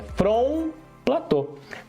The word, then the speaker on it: plateau: final, se fala Paris, por causa que não se fala a última sílaba, a última consoante ali. Geralmente, em todas as palavras não se fala isso. Front plateau, não, é front plateau.